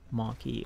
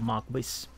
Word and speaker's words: Marquis: Marquis or Marquis, depending where you are from.